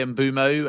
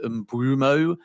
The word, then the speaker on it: Mbeumo: Yeah, I mean I say Ambumo and that's because there's a Premier League video from his time at Brenford at the beginning of last season where that is his pronunciation. I know those that live in Africa say there's kind of a W in there so it's sort of bumo but I say bumo because that is like